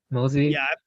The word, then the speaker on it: Mozi: Am I pronouncing it right? Oh yeah. Mozi.